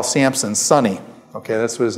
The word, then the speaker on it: Samson: Actually, what you're doing is you're using the Greek pronunciation of this. The Greek has a P in it, and it's come over